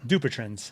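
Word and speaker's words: Dupuytren's: So um so for Dupetrin's contraure, which is by the way often mispronounced by everyone, you said it perfectly right. Say it again one more time. Dupetrins duprin.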